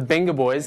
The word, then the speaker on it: Vengaboys: and i now have the wenger boys or the benga boys as it's pronounced uh properly joined with me how